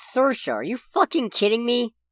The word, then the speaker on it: Saoirse: Have I been mispronouncing this name wrong the whole time? Hold on. One sec. It's Saoirse.